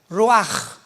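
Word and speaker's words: רוח: Pero la ch en el hebreo se pronuncia como j. Roaj es la palabra para espíritu en hebreo.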